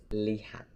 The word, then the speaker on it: lihat: So that's not lihat, but this is lihat. Li is the first syllable and hat is the second syllable.